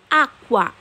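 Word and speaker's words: acqua: হয়ে যায়, মানে কুয়া কুয়া কুয়ানা কুয়ানা কুয়া আকুয়া। আমার সাথে সাথে আপনারাও এই উচ্চারণটি করতে ট্রাই করুন।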